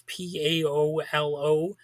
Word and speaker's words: Paolo: And I did check up on the pronunciation because I don't typically speak Italian names. And that is apparently how you pronounce it. It's Paolo, if you want to know that. So you might have seen that name around somewhere, that first name. So I'm kind of doing a public service, letting you know how it's said.